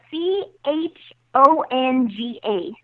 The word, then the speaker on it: chonga: that wait wait spell that Chong chungle chongo spell that for me uh c h o n g a oh chonga oh oh yeah oh chongo chongo